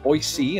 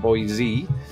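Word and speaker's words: Boise: and I'm reliably informed by locals that it's pronounced boyc and not boy z um so that's that one Illinois obviously Chicago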